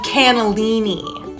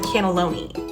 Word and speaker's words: cannelloni: lived in Italy so I know the proper pronunciation it's called the lamb cannellini um respectfully uh cannellini is a white bean the pasta dish is called the cannelloni sweetie come on I lived in Italy cool